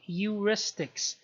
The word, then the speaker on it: heuristics: first mistake is called heuristics the h here is silent so what is heuristics